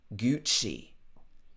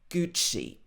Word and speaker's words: Gucci: Gucci. Obviously, this is an Italian brand, but normally in the UK, we would say Gucci.